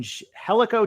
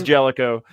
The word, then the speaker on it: Jellico: and also uh 226 from helico Tennessee I think I'm pronounced in that right I think the gist yeah it's Jellico around here just like uh Versailles